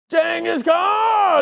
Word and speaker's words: Genghis Khan: The correct way to pronounce his name. Genghis Khan!